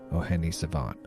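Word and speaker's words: O'hene Savànt: Tonight, I have the great pleasure of interviewing rapper-producer O'Hene Savant on his latest album, pronounced O'hene Savant.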